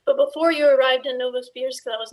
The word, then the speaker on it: Novosibirsk: You told me about the story in Novosibirsk. Am I pronouncing that correctly? Right in the middle of Russia. Novosibirsk. Yeah, Novosibirsk.